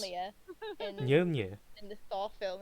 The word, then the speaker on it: Mjolnir: pronounce Mjolnir Mjolnir. in the Thor film, and they go meow meow.